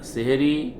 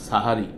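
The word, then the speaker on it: সাহরি: সেটাও বলে দেয় না সেহরি বা সাহারি সেহরি বলি আমরা সেহের মানে জাদু যাই হোক এখানেও ভুল উচ্চারণ থাকে আমরা অভ্যস্ত হয়ে গেছি সাহারি ও সময় বলে দেয়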